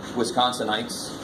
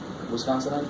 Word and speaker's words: Wisconsinite: be 87 randomly selected Wisconsinites. Is that how you say it? Wisconsinite? Anybody from Wisconsin? No? Well, oh, you are? Yeah. Do you say Wisconsinite? All right, we'll just make it sounds like Samsonite.